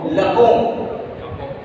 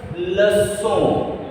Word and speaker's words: leçon: So what I want to say here is that we need to pronounce this word leçon.